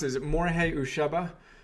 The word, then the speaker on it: Morihei Ueshiba: And the example I would love to hear you describe is you shared, how do you pronounce it? Is it Morihei Ueshiba? Morihei Ueshiba.